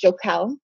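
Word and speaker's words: jocale: And the word jewelry was derived from a Latin word that's pronounced jocal, which means jewel or my favorite plaything.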